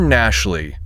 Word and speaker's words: Gnashley: Today we are spotlighting Gar Nashley. Nashley spelled with a G at the start.